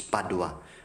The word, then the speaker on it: Padua: dois raised in Italy no it's actually Padova no but in Spanish it's Padua brothers and sisters there